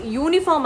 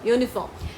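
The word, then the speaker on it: uniform: ഇറ്റ്സ് യൂണിഫോം അല്ല, ഇറ്റ്സ് യൂണിഫോം. സോ all these words അവിടെ എന്താണ് വരുന്നത്, ഇറ്റ് ഇസ് എ ആണ് വരുന്നത്, ആൻ അല്ല വരുന്നത്. നമ്മൾ യു എന്നുള്ള വാക്ക് എടുക്കുകയാണെങ്കിൽ, യു എന്നുള്ള ശബ്ദം എടുക്കുകയാണെങ്കിൽ ഡെഫിനറ്റ്ലി അവിടെ വരുന്ന ആൻ ആണ്. പക്ഷെ ഇവിടെയല്ല, നമ്മൾ യോ എന്നുള്ള ശബ്ദമാണ് ഈ പറഞ്ഞ 3 വാക്കുകളിലും എടുക്കുന്നത്.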